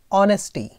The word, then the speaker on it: honesty: story का नाम है ऑनेस्टी एच साइलेंट होता है ऑनेस्टी मतलब मतलब क्या